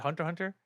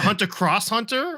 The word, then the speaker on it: Hunter x Hunter: x Hunter fighting game I don't think you pronounced the X Ricky like is a hunter cross Hunter No it's h it's just silent yeah no no pron